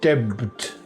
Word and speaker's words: debt: How about debt? Debt. The B is silent. It serves to remind the reader that the word derives from Latin debitum.